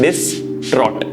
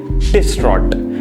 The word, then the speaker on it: distraught: T-R-A-U-G-H-T, the pronunciation will be like T-R-O-T, so it will be distraught. Distraught.